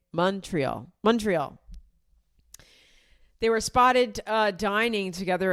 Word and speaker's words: Montreal: Somebody online said you say it like Mon is like Monday. Montreal.